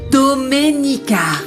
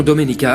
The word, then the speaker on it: Doménica: Tu as du mal à prononcer mon prénom. C'est Doménica. Non, Dominica, arrête de l'énerver davantage, tu vas Je vais découvrir ce qui s'est passé avec ce titre.